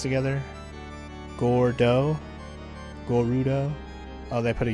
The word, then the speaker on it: Gordo: Well, it could have been a mistake because Gerudo is how Japanese would mispronounce Gordo.